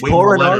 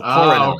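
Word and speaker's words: Kořenář: Okay, I didn't know, because it seems like it's Korenar, but it's one of those European names, and the NAR is ash sound. So Korenash.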